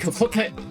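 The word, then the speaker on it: Hocotate: We shall make Hokotate. It's the Japanese pronunciation of that.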